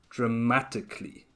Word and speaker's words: dramatically: native speakers also do so you can say it as dramatically with just four syllables exactly and the same